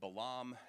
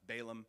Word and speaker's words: Balaam: Book of Numbers there's a prophet named Balaam who uh or sometimes you hear this pronounced Balaam and he's perhaps more